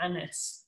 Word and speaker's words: Agnes: agnes as well so agnes would have been pronounced and a bit like french anya's or anis um so you can see why